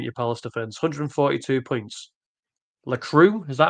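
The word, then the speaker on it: Lacroix: Lacru. Is that how it's pronounced?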